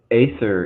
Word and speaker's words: Aether: it Aether wave orave so ather is actually the correct Latin pronunciation it should be written with a ligature right but uh because